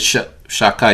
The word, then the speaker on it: Shaddai: It's pronounced, we pronounced it Shakai, it's a holy name.